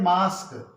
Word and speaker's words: mosque: इन शब्दों में अंत में आया है QUE, QUE। तो जब कभी शब्दों में QUE शब्द के अंत में आए तो हम क्यू की धुन को का पढ़ेंगे, ठीक है।